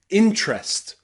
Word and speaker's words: interest: Camera, camera, different, different, and interest, interest. Practice with me. Camera, camera, interest, interest, and different, different. Remember, if you're speaking more slowly, you can pronounce the letter E.